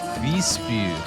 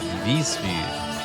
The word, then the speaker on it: Visby: Visby. That's how you say it. Visby.